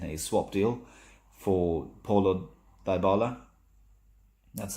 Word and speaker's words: Dybala: From what I've read today morning, we are looking at Juventus in a swap deal for Paulo Dybala.